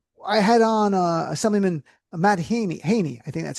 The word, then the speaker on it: Haney: So, I had on Assemblyman Matt Haney, I think that's how you pronounce it, Yep, recently Haney.